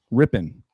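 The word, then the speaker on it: Rypien: How do you pronounce that last name, Rambo? Ripien? Rippin.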